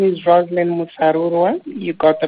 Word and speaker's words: Roselyn Musarurwa: well Jo as you said my name is rosin murua you got the pronunciation right thank you I'm an entrepreneur from